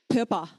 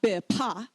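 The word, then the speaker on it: བོད་པ: Pepa. Pepa. It's not bepa, it's pepa, right?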